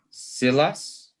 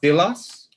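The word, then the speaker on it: Σίλας: on i'm getting there silas we're gonna what ilas but we say we butcher it and we say silas because you can pronounce an iota as a long sound so this is paul's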